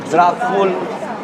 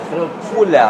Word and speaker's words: Dracula: So his son became simply with the name of Dracula. I told you the real pronunciation it's Dracula because we call it Dracul.